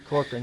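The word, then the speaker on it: Corcoran: Am I pronouncing her name right? Cochran, yeah.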